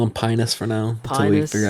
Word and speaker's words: Pinas: I have Googled it, and his name is pronounced Pynoos.